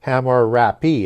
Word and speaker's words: Hammurabi: So typically that H is going to be silent but typically also in the spellings we're going to get hamar abi but it also you'll